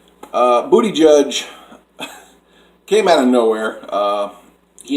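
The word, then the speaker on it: Buttigieg: start with number five booty judge or Pete Buddha judge I think it's a say his name booty judge came out of nowhere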